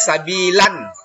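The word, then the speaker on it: سَبِيلًا: Kemudian sabila yang keenam, tulisannya sabilan ya, tapi kalau kita berhenti dibaca sabila. Nah, dihilangkan satu tanda harokatnya. Jadi dia panjang sabila. Panjangnya itu 1 alif saja atau 2 harokat.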